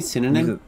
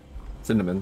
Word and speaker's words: synonym: Don't you mean synonym? Cinnamon, thank you.